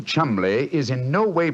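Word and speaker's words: Cholmondeley: had no reason to know that the name chambley is in no way pronounced the way it is spell but you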